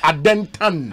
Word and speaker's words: Adentan: The right pronunciation here, adentan. Adentan.